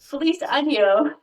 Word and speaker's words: Feliz Año: from year to butthole so you want to make sure you're saying police anyo in the proper way because if you don't say it properly with the right and you you might be saying happy butthole yeah okay that's a